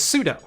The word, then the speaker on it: sudo: linux community around here says pseudo i've never once heard it pronounced sudo um and something's gonna